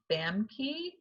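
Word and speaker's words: Famke: okay i picked i don't know how to pronounce her first name fam key jansen f-a-m-k-e she played um she was an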